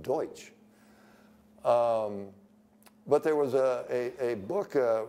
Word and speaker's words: Deutsch: Dutch, and of course that's just a mispronunciation of Deutsch.